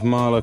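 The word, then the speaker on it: Mahle: Bit of Marla quality.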